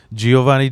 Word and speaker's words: Jhovany: I was gonna say so your Giovanni Diaz the the ways that's how you say it the way the way you uh spell it is that how you always like with the JH that's how my name